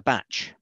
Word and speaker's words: bach: a bachelor as a batch and they pronounce it with a t but it's kind of it's a shortening of bachelor so it's a bachelor